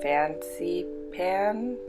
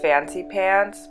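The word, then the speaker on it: Fansipan: as well go to Fancy Pan. It looks like it's pronounced Fancy Pants, but I think it's Fancy Pan, Fancy Pan, something like that.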